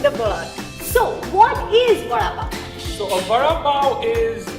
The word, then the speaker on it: Vada Pav: Vada Pav. One more time. Vada Pav. And if you've read our Mumbai book, Vada Pav is something that's mentioned in the book. So what is Vada Pav?